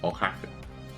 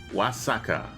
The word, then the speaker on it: Oaxaca: You will see Oaxaca. Stop guessing places I can't pronounce, please.